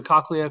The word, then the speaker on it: cochlea: we go to the cochlear cochlea i've heard it pronounced both ways and let's just take